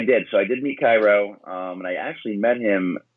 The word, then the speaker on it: Cairo: Am I pronouncing the name right? Is it Cairo? It's Cairo.